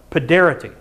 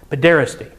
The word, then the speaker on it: paederasty: But for fun, they practice this thing called paederity. Paederasty? Paederasty. Yeah, said it right. Paederasty.